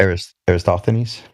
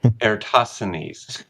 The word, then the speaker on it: Eratosthenes: Eratosthenes? Eratosthenes.